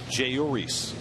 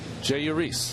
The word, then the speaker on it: Jeurys: So it's like there's no accent anywhere on any syllable. But I was surprised because usually J and in Spanish is an H sound, but he goes with the J sound.